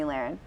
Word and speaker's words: Lahren: It's Lahren, like laryngitis.